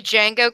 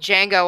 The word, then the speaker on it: Django: Every time you said Django, Cabbage, I wanted to fucking punch something. The D Django. is silent.